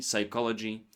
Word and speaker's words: psychology: Silent P appears before S. words like psalm, psyche, psychology. Also in Greek medical prefixes like pneumonia, pneumatic and in irregular words like raspberry, receipt, pterodactyl. Most come from Greek or French spellings.